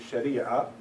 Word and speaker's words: Sharia: That's how we pronounce it, Sharia, in the Arabic language.